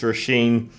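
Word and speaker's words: Róisín: I think I've said Roisin Murphy from Wales for many years, and it's Roisin, and she's Irish.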